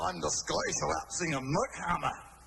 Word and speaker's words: MC Hammer: Oh, no, I'm the Scottish rap singer, Mick Hammer. It's spelled MC, but it's pronounced Mick.